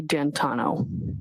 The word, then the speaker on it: D'Antuono: And when you went outside, you learned that he had come and his friend, is it Ricky D'Antuono? How do you pronounce the name? It's Ricky D'Antano. D'Antano.